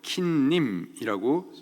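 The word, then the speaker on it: כִּנִּים: 여기 이의 히브리식 발음이 켄이고요, 복수 형태로 킨님이라고 적혀 있습니다.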